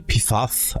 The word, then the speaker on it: PFAS: une inquiétude croissante derrière le sigle phase prononcé pifaf à l'anglaise se trouve une famille